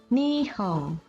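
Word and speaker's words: 日本: Contoh, ada kata nihon artinya Jepang, diucapkan nihong.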